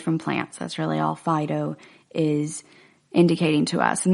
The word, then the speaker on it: phyto: plants that's really all Fido is indicating to us and that's spelt pH whitey oh I know I'm pronouncing it Fido like it's a dog's name but that's just my accent it's by two medicines